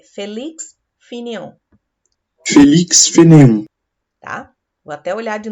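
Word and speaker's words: Félix Fénéon: E eu vi lá que a pronúncia é Felix Fanon. Felix Fanon.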